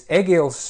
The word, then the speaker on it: Egīls: First of all, I was just going to ask you the pronunciation of your name. Yes, it's Egīls.